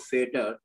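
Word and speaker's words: Vater: of yes yeah the the Germans pronounce v as F and that's why it's called ampulla of fader that's why it's called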